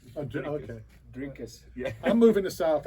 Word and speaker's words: Dricus: Yeah, it's Dricus. Okay. Dricus.